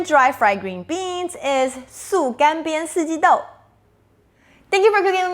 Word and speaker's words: 素干煸四季豆: The word of the day today is 素干煸四季豆, vegan dry fried green beans.